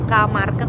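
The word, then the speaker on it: K-Market: itu kayak semacam gomarket tulisannya kamar ke gitu ya huruf k dibacanya di sini ko atau er kios-kios itu lebih grosir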